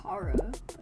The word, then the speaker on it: Chara: It's Chara. Oh, for real? Yeah, kind of like character.